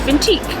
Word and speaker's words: Vintij: So I decided to go with the pronunciation and spelling of vintage in Italian, which is vintique.